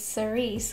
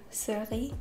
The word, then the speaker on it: Cerise: if you didn't know my last name is actually cherry in french it's cerise or surly this is stunning i